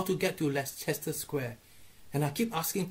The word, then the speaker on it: Leicester: look he says here on the map there Chester Square and they burst into laughing say ok it spelled like Chester but we pronounce it Leicester Square yeah you go figure what man so